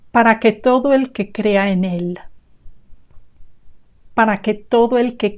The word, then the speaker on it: en él: And en él, notice how we join these two words. En él, that is definitely just one word. When you listen to it, it should sound like one word only. En él. You link the N to the E.